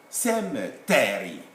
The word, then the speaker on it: cemetery: Cemetery. Cemetery. Cemetery. As you can see, the stress falls on the first syllable.